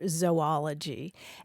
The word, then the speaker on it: zoology: Well, the super traditional scientific pronunciation would be a long O sound, like zooplankton or zoology.